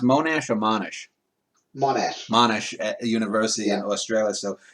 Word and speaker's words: Monash: I will link to your page as it is pronounced Monash or Monash? Monash.